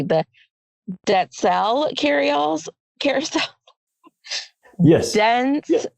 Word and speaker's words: Dentzel: Indiana, and they are the, I want to pronounce this correctly, the Denzel carousel. Yes. Denzel, yes. Carousel. Did I say that right? I think you're good. I've heard it multiple ways, but it's Denzel, yes.